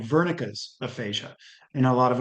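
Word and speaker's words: Wernicke: The next one is fluent aphasia and it used to and it is sometimes called Vernica's aphasia and a lot of Americans say Woricki.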